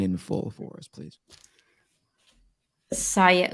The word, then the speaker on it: Siya: SIYA OUM. Oh, there it is. It's no, it's not. It is it? No, it's not. Okay, quit messing around. I almost felt bad. It's SIYA.